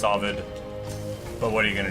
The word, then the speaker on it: Ovid: addition to, you know, Oid's Metamorphosis. And I know it's pronounced Ovid, but by long-standing tradition, I say my my favorite poet's name improperly.